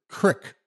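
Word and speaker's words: creek: I laughed, not because of the content of the story, but because I'd never heard someone pronounce it crick before.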